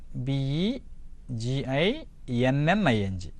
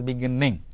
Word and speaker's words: beginning: So there is doubling of letters in English, but there is no doubling of sound. There is no beginning. You can't pronounce as beginning. You have to pronounce it as only free flow of pronunciation, that is beginning.